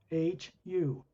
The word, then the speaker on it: Hu: เป็นเสียงแรกของเสียงต้นกำเนิดก่อนที่จะมีการสร้างสรรค์ lower worlds กัน It comes from the first half of the word human. เสียงนั้นก็คือมาจากเสียงครึ่งแรกของคำว่า human H-U, Hu.